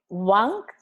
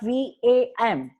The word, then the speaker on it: Vam: You mean to say You mean to say Vang? It's V-A-N-G or V-A-M. Both has the same sound vibration.